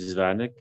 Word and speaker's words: Zavodnyik: Hi there, my name's Steve Zavonik. Last name is spelled Z as in Zulu, A as in